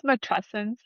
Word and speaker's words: matrescence: Yeah, I think it's matrescence, like the Matrescence.